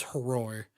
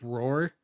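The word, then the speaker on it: Hroar: Like when he says it, he pronounces the H. Um, so his name like definitively it is Horror.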